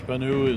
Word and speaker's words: Spanu: have a phenomenal player spanu is her is how you pronounce her last name I mean you